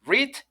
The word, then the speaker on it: read: en presente y pasado pero la pronunciación cambia read en presente como si tuviéramos una y en esta parte y red como si tuviéramos color rojo el diseño el color rojo bridt presente red pasado